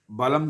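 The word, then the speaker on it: बलं: आगे दिया हुआ है बल बलम के ल के ऊपर अनुस्वार है तो इसका उच्चारण म जैसा रहेगा क्योंकि इसके आगे भा शब्द है।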